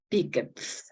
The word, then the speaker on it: picked: Picked. Ajá. Termina en K, se pronuncia como T.